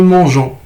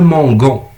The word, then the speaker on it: mangeons: لانه الا ما زدتش هذيك او ما غنطقهاش نو مونجون. عندي لو فيرب مونجي، ولكن ملي غنديرها نو الا ما زدتش هذيك او غتولي عندي نو مونغون.